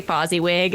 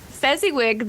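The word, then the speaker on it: Fezziwig: I keep wanting to say fuzzy wig.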